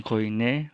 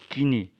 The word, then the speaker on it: Koinē: Tetapi cara membacanya bukan koine, melainkan kini.